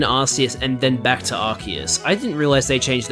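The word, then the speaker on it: Arceus: I find it extremely stupid that they change the pronunciation of Archus to Arus because the the whole thing with Archus is that it's root word. The root words are Ark and Deus.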